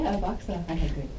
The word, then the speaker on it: AVAXA: Is that how you pronounce it? Am I saying it right? Yeah, AVAXA.